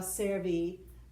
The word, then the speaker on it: servi: the letter i and we pronounce it e in latin okay if it's a long i cerva servi okay they are of